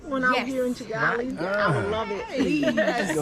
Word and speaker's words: Kigali: We See, I recently had 'em learned put- how to say Kigali properly. It's actually Chigali. Chigali. Chigali, okay. Yeah, it's not They do Chi. say it like that.